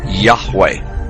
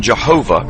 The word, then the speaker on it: Yahweh: most often rendered as Yahweh when written or spoken by Christians and others. It is still never pronounced aloud by Orthodox Jews. The pronunciation Jehovah is an older, less accurate rendition of these letters.